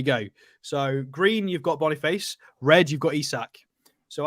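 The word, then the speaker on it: Boniface: that way so apparently his name is pronounced as it's written so Bonny face Bonny face very nice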